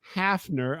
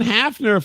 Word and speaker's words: Hafner: Uh, our guest tonight is uh Jason Hafner. I'm hopefully I'm saying your name right. Oh, good. It's almost like half with an L, but it's without the L. It's just half.